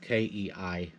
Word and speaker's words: Kei: One of the stories was 1943, and it was the K Islands, spelled Kei Islands, pronounced K.